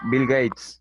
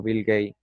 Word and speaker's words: Bill Gates: Profe, se pronuncia Bill Gates, no Bill Gates.